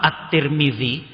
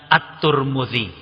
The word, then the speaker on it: At-Tirmidzi: Imam At-Tirmidzi kadang dibaca juga dengan At-Turmudzi. Ya. Tulisannya sama, cara bacanya berbeda.